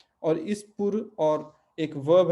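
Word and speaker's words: pôr: और इस पुर, और एक वर्ब है पोर, वर्ब है पोर, और ये है प्रीपोजिशन है पुर, ठीक है, दोनों को उच्चारण में अंतर है, लिखने का तरीका बहुत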